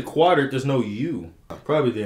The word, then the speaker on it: Qatar: too he did those is that pronounced Qatar like some people say what would you say quarter there's no uh probably